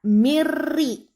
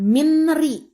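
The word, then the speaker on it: مِن رِّ: Hukum bacanya idgham bila guna. Jadi suara N hilang, masuk ke suara R. Jadi bacaan yang benar mirri, bukan minri.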